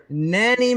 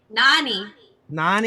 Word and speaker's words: Nani: I don't know how to pronounce anyone's names. Adrian Pellerin, Adrian Frimpong, and Katie Sicking, Justin Miller, Nanny Mendez, Kathleen Cameron, and Tommy Washbush. Nani.